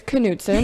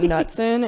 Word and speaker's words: Knutson: able to pronounce it it's Knutson it's not nutsin it's not Newton it's not uh Knudsen it is Knutson so welcome to the